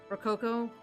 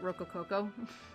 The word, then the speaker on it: Rococo: Rococo art movement, she pronounced it Rocococo. She put, like, way too many syllables in it.